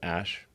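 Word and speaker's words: Æ: x um and then the ae is like pronounced ash yeah and then uh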